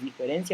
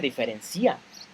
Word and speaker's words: diferencia: Cuando yo digo diferencia, la palabra diferencia no tiene un acento en la RAE, no está descrita como una palabra con un acento en la I. No se dice diferencia. ¿Por qué? Porque no tiene acento en la I. Entonces es diferencia. Aclarando que se pronuncia como diferencia, continúo y cierro paréntesis.